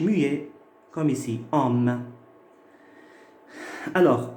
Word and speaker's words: homme: Et si maintenant j'ai un H muet, comme ici, homme. Alors, homme, c'est un H muet parce que je peux dire l'homme.